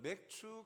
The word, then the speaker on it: 맥추: 과거 제가 어릴 때 맥추라는 발 이렇게 앞선 분들이 발음을 하실 때 맥추 감사주를 안 하고 자꾸 추 발음을 제대로 강하게 안 하시고 맥주 감사 맥주 감사 교회에서 맥주를 왜 이상하다 그런 생각을 하였던 적이 있어요.